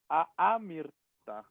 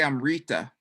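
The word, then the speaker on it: अमृत: There are a couple, but you can say amirta. Right, and not. And what? What's not the pronunciation of that word? Not amirta. Definitely not, but people say Amrita.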